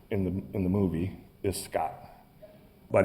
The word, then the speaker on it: Skat: And in Swedish, the word for treasure is skatt, S-K-A-T-T, and this character's name in the movie is Scott, but it's spelled S-K-A-T.